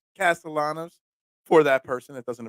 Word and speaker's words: Castellanos: I gotta say but again Nick Castellanos yes castanos Castellanos for that person that doesn't appreciate my mispronunciation big walk-off win for the Phillies last